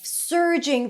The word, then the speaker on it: surging: great said Harry relief surging through him by the way surging is rushing or increasing suddenly and powerfully surging as in stir Sur surging surging surging